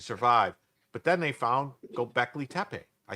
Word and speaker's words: Göbekli Tepe: But then they found Göbekli Tepe.